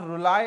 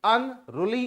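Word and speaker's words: unruly: इस वर्ड का प्रोनाउंसिएशन ध्यान रखिएगा, इट्स नॉट रुलाई, इट्स रूली। अनरूली इज the word, क्योंकि हम यू को डिस्कस कर रहे हैं, तो इट इज अनरूली।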